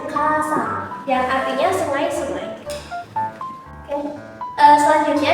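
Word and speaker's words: 河川: Maka dia dibacanya itu bukan kawa lagi, tapi sang. Jadi bacanya kasang, yang artinya sungai-sungai.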